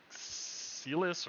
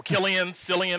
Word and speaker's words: Cillian: And the lead, I can't pronounce his first name. It's like Celis or some shit like that, or whatever his name is. Oh, Kieran Murphy. Yeah. Killian Murphy.